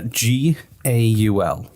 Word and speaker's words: Gaul: he was a goal anyway how do you spell it uh g-a-u-l okay and that's what france is today usually